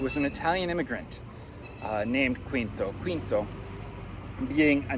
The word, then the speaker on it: Quinto: Spanish, and of course the word for fifth is identical except the pronunciation, in which point when I look at this title, sometimes I struggle not to say Ricercare Quinto, which is how it would be in Spanish, rather than Quinto, which is the Italian.